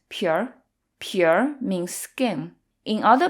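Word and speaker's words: 皮儿: lot of nouns and the art often merges into the preceding syllable as in this case it becomes pure pure means skin in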